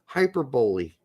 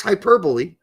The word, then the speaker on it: hyperbole: He said this isn't hyperbole, although some of young people pronounce it now, it's hyperboly. It's hyperbole. Um, I guess you could pronounce it hyperboly.